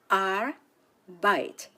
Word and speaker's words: Arbeit: Arbeit has 2 syllables, Arbeit. Take note of the EI combination and pronounce it as I.